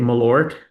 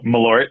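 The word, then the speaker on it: Malört: is famous for, how do you say it, Malort? oh, Malort.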